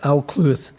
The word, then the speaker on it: Alcuith: I think that's the right way of pronouncing it, John, is it? Alcuith. Yeah, well, so I got it right first time, which is rarity.